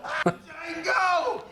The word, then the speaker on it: Django: Well, Django! D is silent here, baby.